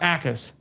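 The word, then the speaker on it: Jacas: It's pronounced Ackus. So, Gabe Ackus. Okay. Oh, so the J silent. Yes, the J, that's what the chat's saying. The J is silent.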